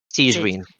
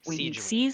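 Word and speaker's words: Sigewinne: I really like is it Sijuwine? Is that how you say it? Sijuine. Sijuine.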